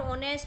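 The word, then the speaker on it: honest: पर अगर आप देखोगे इ नॉट प्रोनाउंसड येय मतलब यहां क्या है वो साइलेंट है एच यहां पर क्या काम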